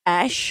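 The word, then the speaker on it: X Æ A-Xii: One is X AEA-X small II, pronounced Ash.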